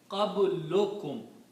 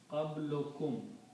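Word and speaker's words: قبلكم: In Arabic, when we combine, we don't pronounce two dhammas, but we say one dhamma, qablukum. So if I write down these together, it will be written like qablukum.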